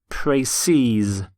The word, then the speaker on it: précis: The plural of précis is in fact spelt exactly the same, but it's pronounced précise. So you have 1 précis and 2 précises.